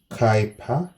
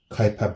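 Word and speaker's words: Kuiper: At that region we call it Kyper but written like this one Kyper belt. Yeah. Take note of the pronunciation. It doesn't sound like so but yeah that's how you're supposed to be calling it.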